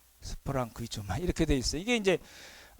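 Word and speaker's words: σπλαγχνίζομαι: 발음이 어렵죠? 스프랑크니 조마이. 스프랑크니 조마이 이렇게 되어 있어요.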